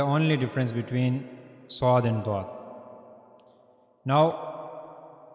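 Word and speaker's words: ض: Now the origin of bod is side of the tongue. Okay, this is the side of the tongue and it's the right side of the tongue. Okay, it's the right side of the tongue and it will meet the roots of the upper mullers.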